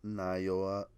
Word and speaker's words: Naoya: And his name is Naoya Inoue.